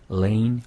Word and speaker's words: lane: L-A-N-E 그 다음에 R-A-I-N 스펠링은 좀 다르지만 네. Lane, Rain 이라고 뒷부분은 똑같아요.